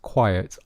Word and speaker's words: quiet: So listen carefully to the pronunciation. The restaurant is quite quiet on Mondays. The restaurant is quite quiet on Mondays. Can you hear the difference? Quite quiet.